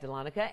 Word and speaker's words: Dahlonega: A real easy way to remember it is just then L-A-W-N, Dahlon, egg, E-G-G, So Dahlonega.